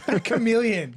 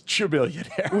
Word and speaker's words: chameleon: Let's just say that Nilay wasn't sure how to pronounce chameleon. Really? Chameleon. Chameleonaire. Eli thought it was chameleonaire.